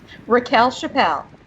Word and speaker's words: Rachele Chappell: Rachele Chappell.